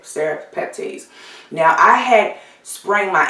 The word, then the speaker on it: serrapeptase: want to talk about is serrapeptase or seropeptides i believe they pronounce it serif peptides now i had spraying